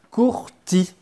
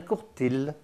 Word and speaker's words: courtil: et attention ravisez bien ça s'écrit comme ça mais ça se prononce comme ça on dit un courti bah oui on dit pas un Courtille on dit pas un